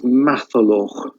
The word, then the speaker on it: Matholwch: Now, the king of Ireland in this tale is Matholwch.